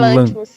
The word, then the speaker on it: Lanthimos: Eu acho que como fala, a sílaba tônica é no Lanthimos.